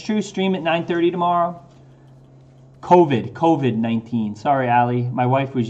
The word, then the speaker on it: COVID: COVID-19. Sorry, Allie. My wife was yelling at me from upstairs. It's not Corvid. It's COVID.